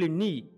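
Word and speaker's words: knee: আমি এখানে নি লিখেছি কে কে সাইলেন্ট হয় এন ডবল নি নি নি নি নি নি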